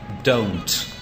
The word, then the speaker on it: don't: Third one, we're gonna be like don't. Don't. How can we say don't? I think we don't pronounce the T sound at the end of the letter.